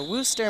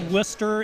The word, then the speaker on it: Worcester: have no idea where that is blue stare Worcester Mass like I said will stay no we all Worcester in Ohio we don't believe in the middle